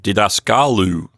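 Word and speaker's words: διδασκάλου: a minute ago that in the word didascalu the accent has been moved one notch to the right because of the long final syllable the Omicron Upsilon diphthong in that final syllable makes that last syllable long and so instead of we have didaskalu exactly so that's a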